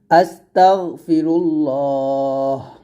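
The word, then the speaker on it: أستغفر الله: হচ্ছে খুবই ছোট একটা ইস্তেগফার সেটা হচ্ছে হচ্ছে আস্তাগফিরুল্লাহ আস্তাগফিরুল্লাহ এখানে হামদা সিন জবর আস্তাগন জবর তাগ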